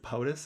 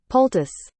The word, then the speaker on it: poultice: Is it POTUS? Is that how you pronounce it? I don't want. It sounds like I'm saying President of the United States, like, acronym. Poultice. Let me get it. It's not a Paultus.